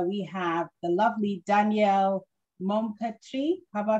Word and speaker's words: Maupertuis: And today on our show, we have the lovely Danielle Maupertuis. Have I pronounced that correctly?